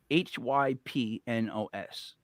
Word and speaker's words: Hypnos: after hyp hyp hyp hyp she she's great hypnos hypnos h y p n o s hypnos hypnose that's is how I'm pronouncing it from now I'm just doing my